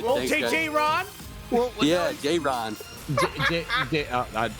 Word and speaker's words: Jaron: Congratulations, Jaron. We'll see you tomorrow night. Hey, thank you. Thanks for saying my name right, too. Everyone. All right, Well, thanks, guys. J-Ron.